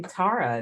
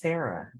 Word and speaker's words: Tara: are you I'm good it's actually Tara not Tara oh excuse me thank